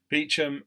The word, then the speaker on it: Beauchamp: So we have here on the screen the Kibworth Beauchamp, or Beecham, however you want to pronounce it, Beecham Parish Council for March 2020, which was posted in 26th of April.